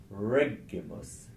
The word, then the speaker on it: Regulus: Regulus record refugees is because it's a three syllable word the final syllable you would never stress the one before it is a short syllable and it contains a short vowel so you mustn't stress that you have to come one further back and you get to the first so rep so reg